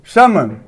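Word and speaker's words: salmon: तो देखिए एल जो है यहाँ पर है और कॉन्सोनेंट एम है। तो बताए हैं ना कि ए एल के बाद में कोई कॉन्सोनेंट आता है तो एल का उच्चारण नहीं किया जाता।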